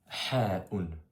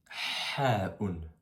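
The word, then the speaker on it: حاء: Pour prononcer cette lettre-là, c'est un truc qui n'est pas simple au début, mais pour te donner une idée de comment tu pourrais le prononcer, quand tu veux sentir ton haleine, qu'est-ce que tu fais? Tu dis, tu vois, comme ceci. Et c'est ça le ha en arabe.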